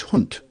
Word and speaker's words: Hund: Now, there's 4 or 5 words for puppy in German, but the word for a dog is Hund, which is about like hound.